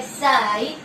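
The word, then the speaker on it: psi: इसको बोलते हैं साई. इसकी स्पेलिंग साई की देखे, SIGH, साई बोलते हैं इसको.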